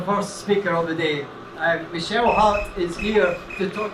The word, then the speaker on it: Michale: How do I pronounce that? I want to do it right. Michale?